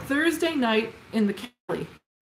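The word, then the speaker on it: Caley: Thursday Night in the Cali. And the Kelly is spelled C A L E Y.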